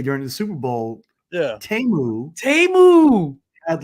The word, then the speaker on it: Temu: Timu.